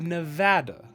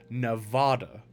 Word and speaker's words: Nevada: Colorado it's Colorado however I'm from the state of Nevada so it's a instead of Nevada and when I hear somebody say Nevada it just irks me because it's is not the way you pronounce the name it is Nevada because it is a Spanish word yeah it's like um